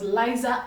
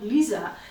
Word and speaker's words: Liza: When we did find out the correct pronunciation was Liza and not Lisa, the market was already saying Liza Express.